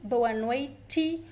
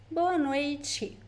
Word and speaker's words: boa noite: The TE also varies a little bit depending on the accent. Some people would pronounce T, boa noite, or boa noite, like in Paraná. In some places in Paraná they would say boa noite, but the most common pronunciation is boa noite.